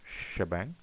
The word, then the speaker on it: shebang: So we do shebang uh this is pronounced as this is read as shebang and that is hash